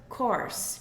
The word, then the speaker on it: course: Course, presta atenção na pronúncia, course, igual de of course.